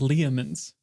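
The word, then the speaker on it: Leomund: I've always pronounced it Leoman's. Leoman's tiny hut. Not Le Mans. Because it's Leomun, I think.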